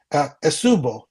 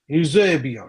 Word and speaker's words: Eusebio: If you get a nice card Pele, or even pronounce, let me know if I'm pronouncing this gentleman's name, Esubo, You Eusebio, you Eusebio. Eusebio. Yeah, there you go.